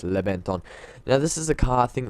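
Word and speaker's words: Reventón: Now, I know this thing might seem like it's meant to be pronounced as Reventon, but apparently by Lamborghini it's Reventon.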